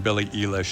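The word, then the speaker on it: Billie Eilish: right here we go I'm gonna say this one right Billy Elish apparently I've been saying it wrong Billy Elish so there we go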